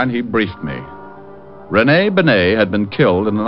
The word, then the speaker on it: Bennet: otis your mallet head you were wrong it's pronounced benay not benny that idiot was calling him remy benny was